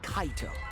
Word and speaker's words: Kaito: is Cato must be kaito so the person inside that exosome isn't kokichi it's Cato it has to be kaito I always say his name wrong I say Cato and they say kaido Kato kaido tomato tomato